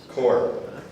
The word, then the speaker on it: Corps: Corps.